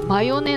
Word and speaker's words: 眉根: これね、マヨネって読んでたけど、これマヨネなんですよ。